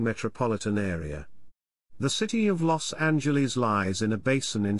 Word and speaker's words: Los Angeles: los angeles lawson jls spanish los angeles pronounced lit the angels often referred to by